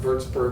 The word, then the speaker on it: Würzburg: So the cathedral in Würzburg, it's pronounced Würzburg, but it's spelled W.